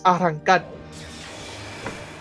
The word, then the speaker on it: arrancar: By the way, it's arrancar. Arrancar.